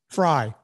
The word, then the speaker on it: Frey: Daniel Frey wrote a note. Fry. He pronounced Fry. It Fry.